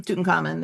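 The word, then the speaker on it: Tutankhamun: But um Tuten Common is I guess the correct pronunciation.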